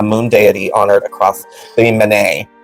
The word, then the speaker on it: Men: Did they just spell it M-E-N? Yeah. Oh. Yeah. Okay. That's why it took me a second.